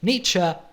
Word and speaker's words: Nietzsche: In the 19th century, a Musterchoid German named Friedrich Nietzsche, that's right, that's how you pronounce his name, was very critical of many groups in society, like psychologists, scientists, religious people, and so on.